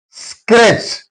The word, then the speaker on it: scratch: Scratch T is silent.